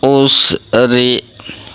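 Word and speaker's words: العسر: Fa inna ma'al usri, ro-nya berharokat kasrah, tarkik tipis, ro-ri dibaca tipis, hukum bacanya itu tarkik.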